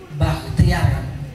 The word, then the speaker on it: Bachtiar: Nama saya itu Bakhtiar, BACHTIAR, Bravo Alpha Charlie Hotel Tango Indi Alpha Romeo. Ya kan? Itu kenapa BACH?